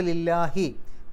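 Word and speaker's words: لِلَّهِ: ജർ ആയിട്ടുള്ള ലി വന്നു അപ്പൊ ലില്ലാഹി കസർ ഉള്ള അക്ഷരം ആയതുകൊണ്ടാണ് ലാ എന്നുള്ള ഉച്ചാരണം കൊടുത്തത് ലില്ലാ എന്നുള്ള ഉച്ചാരണം കൊടുത്തത് ലില്ലാഹി അവസാനത്തിൽ ഹി കസർ കിട്ടാനുള്ള കാരണം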